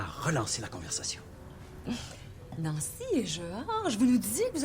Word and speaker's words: Georges: l'université, et son mari Georges. Oui, Georges. Nous autres, quand t'as un E dans ton nom, ben je m'excuse, on le prononce.